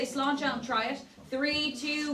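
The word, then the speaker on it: sláinte: We are going to say slancha as we try it. In Irish, this means cheers or to good health. It's pronounced slanchcha. So we'll say slanchcha and try it.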